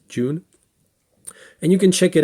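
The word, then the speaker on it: Ğ1: the universal dividends called the G1 or June pronounced June and you can check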